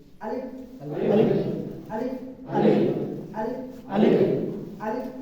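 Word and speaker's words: أَلِف: জায়গায় হবে না, হালকায় বাতাস বাইর হবে আর ওটা উচ্চারণ হবে। আলিফ আলিফ আলিফ আলিফ আলিফ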